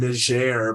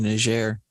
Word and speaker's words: Niger: Because if they speak French, then it's definitely Niger.